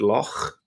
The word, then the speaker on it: loch: If you know the word loch in Scottish English, loch is got the same sound at the end.